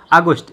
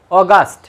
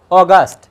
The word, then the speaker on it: অগাস্ট: অনেকে আগস্টকে এইভাবে লিখেন আগস্ট, কেউ অগাস্ট লিখেন, কেউ আবার আগস্ট এইভাবে লিখেন। তো কোনটা সঠিক দেখুন, এই আগস্টের ইংরেজি বানানটা হচ্ছে এইটা, AUGUST। এটার সঠিক উচ্চারণ আসে অগাস্ট। কি উচ্চারণ আসে? অগাস্ট।